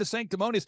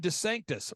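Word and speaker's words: DeSantis: of he's head of Rhonda sanctimonies I'm sorry I mispronounced it's Rob Des Sanctus Rob Des Sanctus he's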